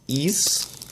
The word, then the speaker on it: Ys: Been Told it's actually a little bit closer to the word fleece but without the FL so just the East